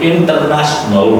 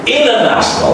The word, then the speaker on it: international: Long story short, like we don't say international, we say international. All right? Inner T again is silent here, right?